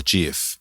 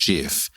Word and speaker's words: GIF: I always pronounced JF apparently the inventor of the GIF has actually come out and said multiple times that's pronounced GIF but 95% of the world pronounce a gif so if you pronounce it correctly everyone perceives that you're mispronouncing it which is funny but